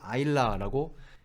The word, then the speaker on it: Isla: 이렇게 읽고 싶지 않습니까 그렇게 읽는 것이 가장 흔히 잘못 읽는 경우라고 합니다 그러니까 우리가 진정한 호주인으로 살기 위해서 혹은 진정한 뉴질랜드 사람으로 살기 위해서는 애 이름 정도는 읽을 줄 알아야죠 이거를 아일라라고 읽는다는 것을 여기까지는 여자아이들 이름이었고요 남자 아이들의